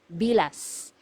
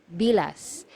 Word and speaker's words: bilas: one sister-in-law sister-in-law is bilas bilas so you have to be very careful with this one you have to pronounce the letter S at the end because if you mispronounce